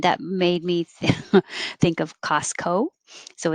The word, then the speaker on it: Costco: made me think of costco so it's not costco or costco it's ca costco costco i don't really say that t at all just costco if you